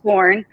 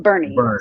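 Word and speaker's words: Boerne: It's nor we would pronounce it Bourne. B O U R N E but it's pronounced Bernie.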